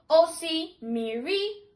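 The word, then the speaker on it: osimiri: To say sea or ocean in Igbo is osi miri, osi miri.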